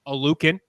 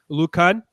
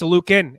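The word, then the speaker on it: Oluokun: top here oh Lucan he wants his name to be pronounced a Lucan I heard him say that himself it's not Lucan it's a Lucan you better get it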